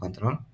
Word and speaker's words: Ctrl: Ctrl Ctrl A conttrol itu adalah tombol yang tulisannya Ctrl dibacanya conttrol lalu kita paste di kolom C7 di sini.